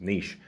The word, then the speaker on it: niche: differently so for example the word niche in the in the UK is Niche but in the UK in the US it's niche right so if you